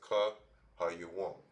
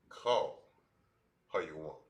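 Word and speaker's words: כל היום: So this here will be pronounced as ka ha yawam. All right. And it's like call ha yawam.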